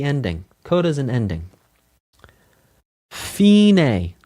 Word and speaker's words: fine: We're going to say it differently in music again because it's Italian. We're going to say fine.